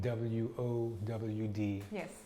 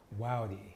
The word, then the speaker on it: WOWD: WOWD, I might be, how do you say that? What is it? WOWD. Yes. Wowdy. Wowdy. Wowdy Radio, that's who we are, Wowdy Radio.